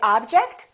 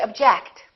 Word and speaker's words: object: this one do we say object or do we say object again it depends on if it's a verb or a noun object is a noun that's an interesting object or verb object I object to your decision let's practice some sentences